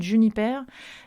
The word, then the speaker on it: JNPR: à une marque comme Jennifer d'une hyper ça s'écrit jnpr et a perdu les voyelles comme il a perdu l'alcool c'est une boisson naturelle